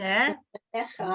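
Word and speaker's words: שְׁמֶךָ: So you have to pronounce the vowel.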